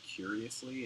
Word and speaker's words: Qriosly: I It was the prediction markets that reflected Brexit, not I met a guy who works at a startup called Curiously. It's spelled Qriosly, and they do mobile surveying using mobile ads.